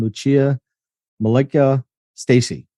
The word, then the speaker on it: Lucia Milică Stacy: I'm your host, and today I am joined by my good friend Lucia Milică Stacy. Did I get that right? Did I pronounce Yes, that you right?